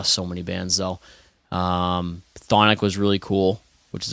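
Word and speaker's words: Chthonic: know the past week that they that they pronounced their word their name thonic I always thought I was like I don't know what but yeah yeah but it's it's Sonic apparently silence C you know who has silent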